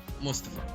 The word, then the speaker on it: Mustafa: Mustafa. Yeah. There we go. Right. All foreigners pronounce it like that.